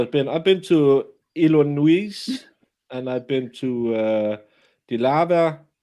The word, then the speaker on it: Illinois: if you know this, they took away the S in Illinois because it's a French way to pronounce it.